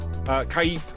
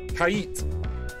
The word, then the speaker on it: Kait: But yeah, I was informed that it's Kait is how it's pronounced. Shout out to Casper. Thanks, dude. Because I suck at pronouncing things. Let's be honest. Kait. Kait. Less yeet, more eat.